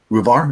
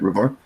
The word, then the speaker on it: Ruvar: Ruvar is how you say it, Ruvar.